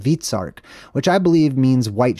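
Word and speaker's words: Hvitserk: But this island right here is called Vitsark, right? It's spelled differently across the board from language to language. H-V-I-T, Vit, or Vitsark. Very interesting.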